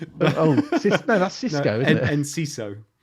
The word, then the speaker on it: Enciso: Enciso. Enciso. Yeah. Enciso. I think that's how you say it. That's how they say it on the radio anyway.